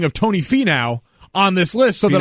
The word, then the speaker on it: Finau: Yeah, it's Finau, so there's a lot of what's going on there? As far as I'm concerned, it's Fee now.